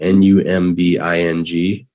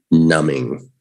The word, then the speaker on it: numbing: three we have numbing that b is silent everybody n-u-m-b-i-n-g numbing no numbing numbing say